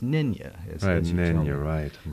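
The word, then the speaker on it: Nänie: spelled N-A with an umlaut, N-I-E, and it's pronounced Nynya, as you tell me, mm-hmm.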